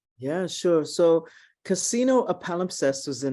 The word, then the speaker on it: palimpsest: And you know, I studied, I'm not sure if I'm able to pronounce it correctly, the palimpsest.